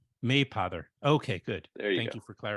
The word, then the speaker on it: Mapother: It's a long A. You hit the first syllable. So imagine Okay. if it had a Y. Mapother. Mapother.